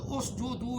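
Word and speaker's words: اسجدوا: یہ اس جدو کیسے بنا، تلفظ صحیح میں بتا رہا ہوں، صحیح لفظ اس جدو ہے.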